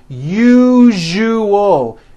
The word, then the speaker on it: usual: three syllables you jus that second syllable jew the one with the underline needs to be voiced put your hand on your throat and feel for the vibration in the second syllable now put it together usual usual like that okay now try unusual